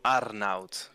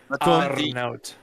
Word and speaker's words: Arnoud: It's the proper how you say it in Frisian is Arnoud. Wow, there we go. Casey, can you do it, please? I love it, but I'm not doing. Yeah, Arnoud.